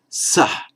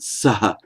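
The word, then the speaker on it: सः: So third masculine, he, is sa. Sometimes they pronounce it sa, but that's a point we'll come to in due course.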